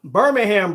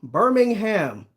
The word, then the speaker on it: Birmingham: Don't emphasize the hum.